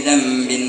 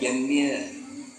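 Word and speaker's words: ذنب: Nah, itu hati-hati bacanya. Jangan jambil atau jabil. Gunung mana? Ampuni dosa gunung.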